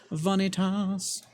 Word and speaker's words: Vanitas: Vanitas. That's at least how my professor pronounced it. Like fajitas.